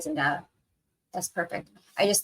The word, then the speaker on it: Zendaya: Zendava? Okay. So it is the Z sound instead of the S sound?